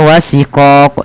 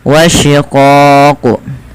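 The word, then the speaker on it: وشقاق: Jangan sampai terbaca dengan huruf sin ya, jangan dibaca wasiqoq tapi wasyiqoq.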